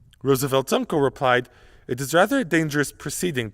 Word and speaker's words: Roosevelt: this wrong especially in the United Kingdom it's pronounced Roosevelt although in a bizarre foreshadowing of the Jif